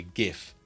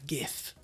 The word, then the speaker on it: GIF: It might be a PNG, it might be a GIF or GIF, depending upon your predilection for pronouncing it. I prefer GIF.